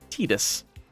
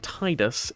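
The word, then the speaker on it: Tidus: Uh, this name is pronounced Tedus. It is only ever pronounced uh Titus in Kingdom Hearts 2, which is a spin-off. Not really too relevant. Um, and they also kind of contradict that by it by by way of Kingdom Hearts 1 having it pronounced Tetus.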